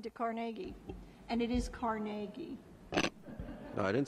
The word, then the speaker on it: Carnegie: And it is Carnegie. No, I didn't say anything. I know. But so many people mispronounce Carnegie, but it is Carnegie.